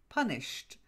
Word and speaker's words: punished: Punished.